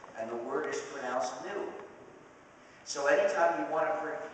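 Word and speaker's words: gnu: countless word plays because according to the dictionary the g is silent and the word is pronouns new so anytime you want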